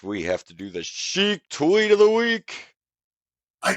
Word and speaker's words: Sheik: unless I'm here I've I've been saying it wrong this whole time it's not iron Shake it's iron sheep it is Chic it is not Shake yeah that'd be a